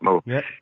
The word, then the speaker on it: Meaux: in French but it's also how my name is pronounced mo so I'm right so